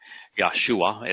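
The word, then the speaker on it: ישועה: Yeshua is how it's pronounced in this particular case.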